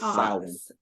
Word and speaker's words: Samhain: itself, it began, I forget now what the pronunciation of it is, but it was a Gaelic Samhain. holiday. No. It's Samhain.